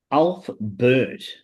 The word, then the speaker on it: Ulfberht: of information oh, for, it's called Sunday. Ulf Bert. So it's spelled ULFBERHT.